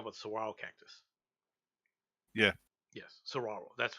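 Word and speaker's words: Saguaro: Saro you talk about Saro Cactus yeah yes Saro that's how it's pronounced that's not Seas seas are a tree yeah I wasn't sure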